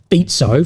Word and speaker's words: Fico: But what we see is Slovakian Prime Minister Robert Fico, finally pronounced it right, and also the Hungarian Foreign Minister landed in China, I believe, this morning.